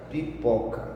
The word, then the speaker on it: pipoca: Então você fala devagar, ó, pipoca. Claro, o pó é mais forte.